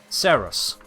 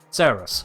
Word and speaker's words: Saros: Saros. Is the stress on the sir? The Saros. Saros. Okay, got it. The S, like in sugar. A. Pronounce like air.